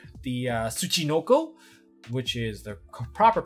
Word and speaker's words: Tsuchinoko: from this as for the level 3 the Tsuchinoko which is the proper pronunciation for this this particular monster regardless of